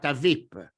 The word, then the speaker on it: VIP: As a matter of fact, the English word: VIP in Italian, must be pronounced VIP Don’t miss my video about this type of pronunciation.